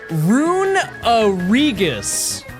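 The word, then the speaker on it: Runerigus: It's pronounced rungus. Where's the uh where does the uh come from? We said it's ru n e rune and then r i g us u s is the remainder of it. So we already have the rigus. Where is the uh we're pronouncing e twice?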